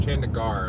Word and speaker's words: Chandigarh: cities Shan digger Jenica Chandigarh I'm sorry Jenny the prop is that we always use a short e and in English I know that's a long e Chandigarh I rape I'm